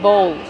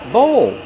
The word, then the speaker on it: bowl: How do we pronounce bowl? Bowl. Use the long O like no and go plus the dark L.